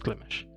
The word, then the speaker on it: Glimesh: I'm pretty sure it's pronounced Glimish.